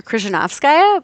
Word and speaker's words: Krzyzewskaja: Krzyzewskaja. But I find that telling people that everything after the K is silent used to be my go-to.